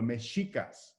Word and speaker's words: Mexica: people in mexico the meshikas spaniards would hear this term and would hear this name but would render that that sh sound as an x according to their own pronunciations so it became more